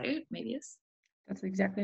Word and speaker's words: Moebius: and has Moebius syndrome, which is that how you say it, Moebius?